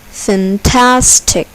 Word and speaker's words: fantastic: Fantastic. Fantastic. Here, the second syllable is accented. Fantastic.